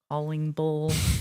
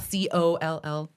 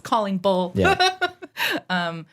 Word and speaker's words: Callingbull: I always go like this, Callingbull, so people know how to say it. It's not Coll. Not Collingwood, it's Callingbull.